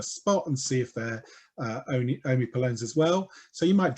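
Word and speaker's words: omipalone: Omipolones, or HPs, although it's spelt with an O, omipolones were gay men.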